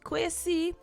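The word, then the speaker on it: Quashie: pronouncing it properly right some people say it's probably quasi but you'd find the spelling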